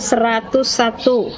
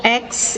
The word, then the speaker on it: X: maklumat Wakil Presiden Nomor X itu dibacanya nomor X ya bukan nomor 10 karena dalam sejarahnya sampai sekarang itu belum diketahui nomor berapa jadi bacanya nomor x tanggal 16 okt 1945